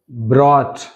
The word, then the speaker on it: brought: Naughty, naughty, caught, caught, brought, brought, bought, bought, night, night, taught, haughty, right? In these all the words, GH letter is silent.